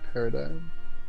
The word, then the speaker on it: PRDGM: It's spelled PRDGM, but it's pronounced paradigm.